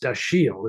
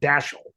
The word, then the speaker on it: Dashiell: because it's when his daughter tells you, it's pronounced Dashiell, it's not Dashiell.